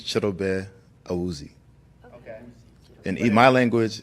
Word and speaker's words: Chidobe: No, so the name is Chidobe, Awuzie. If you want to say it in the English language, it's Chidobe, Awuzie.